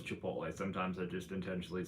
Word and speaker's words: Chipotle: Chipoodle. And yes, I know it's Chipotle.